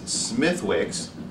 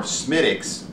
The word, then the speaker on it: Smithwick's: today the beer is smithwicks or smytix which is what i have heard a few of my irish friends call it uh i believe that's